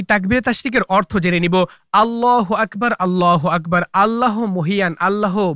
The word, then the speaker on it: আল্লাহু আকবার: অনেকে আল্লাহু আকবার বলে, ভুল উচ্চারণ। সঠিক উচ্চারণ হচ্ছে আল্লাহু আকবার।